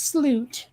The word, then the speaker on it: slut: I mean, it's pronounced sloot, but Mm-hmm.